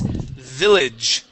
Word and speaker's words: village: First up is village instead of village. Yeah, short I.